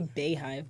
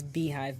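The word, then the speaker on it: Beyhive: Why did you say Bayhive, by the way? That's how it's spelled. It's Beehive.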